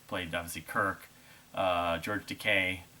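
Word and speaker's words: Takei: obviously kirk uh george decay i believe it's decay people say his name to kai uh when sulu and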